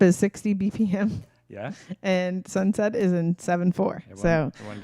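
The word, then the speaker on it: Sunsept: This is a song by Sweet Crude called Sunset. Set, like you think like S-E-T? Nah. S-E-P-T, which is the French word for seven. Mm-hmm. Sunset.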